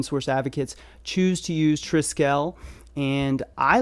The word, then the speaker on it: Trisquel: does seem like it's triscale so like skeleton so it's Tri as in trim and scale as in skeleton so Tri scale so